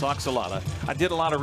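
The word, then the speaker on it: ajolote: spelling of oxala it it doesn't look like what it sound it is a j o l o t e but that's pronounced oxala I did a lot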